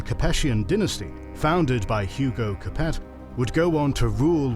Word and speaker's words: Capet: dynasty founded by Hugo Capet would go on to rule what would become the Kingdom of France. Think in France it's probably pronounced Cape with some interruptions until the 19th century.